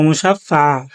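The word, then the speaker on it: مُشَفَّعًا: ওম মুশাফফা শাফিয়া ও মুসাফফা আমি এবার শেষবারের মত শেষবার বলব একসাথে বলব এটা ভেঙ্গে ভেঙ্গে বলব না শেষেরটা মুসাফা বলবেন ঠিক মুসাফা অনেকে কেন উচ্চারণ ভুল করেন সেজন্য আমি বারবার বলে দিচ্ছি এবার আমি শেষবার মতন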